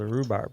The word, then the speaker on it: rhubarb: We spelled rhubarb wrong. So we did. So that silent H should get you every time.